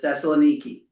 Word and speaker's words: Thessaloniki: And how you pronounce it in Greek is Thessaloniki. And as I was listening to it, it was Thessalonica. Thessalonica is how it was saying it, which is Thessalonica with the syllables were in different places, was all. And so the English version usually is Thessalonica.